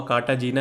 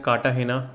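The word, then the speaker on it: Cartagena: पहला है कार्टाहेना, लिखा हुआ कार्टाजीना है बट इसको प्रोनाउंस करते हैं कार्टाहेना प्रोटोकॉल।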